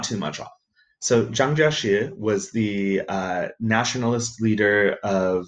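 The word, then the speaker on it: 蔣介石: westerner as Chiang kai-shek his name in chinese is jiang jieshi but in in pinyin there it's an opinion it's spelled je I am Jie Jie Shi Zhang Jia Shi which is pretty close to the Chinese in wave Giles it's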